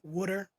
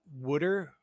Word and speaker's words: water: If you're from New Jersey, parts of New Jersey, Wooder. Mm-hmm. Wooder? Yeah. Some of my cousins actually pronounce it Wooder.